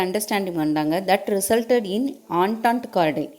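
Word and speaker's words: entente cordiale: That resulted இன் ஆன்டாண்ட் கார்டைல். என்டன்ட்டின்னு சொல்லக்கூடாது, அதை you have to pronounce it ஆஸ் ஆன்டாண்ட் கார்டைல் இன் 1904.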